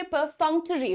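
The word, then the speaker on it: perfunctory: पहला वर्ड है ये, इसका प्रोनाउंसिएशन ध्यान से देखिए, परफंक्टरी होता है। This is नॉट परफंक्टरी, टरी। एक तो ट बिल्कुल खड़ा ट नहीं बोलना चाहिए, ट को थोड़ा ट साउंड करवाइए, ट साउंड्स मोर पॉलिश्ड, राइट।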